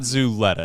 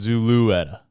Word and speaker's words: Zulueta: I said it wrong so it's not zuleta it's Zulueta yeah that that second U is uh important well I got news